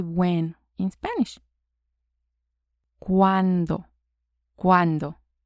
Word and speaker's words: cuándo: ¿Cuándo? ¿Cuándo? So before we saw cuánto. Now is cuándo. ¿Cuánto? ¿Cuándo? The D has a softer sound.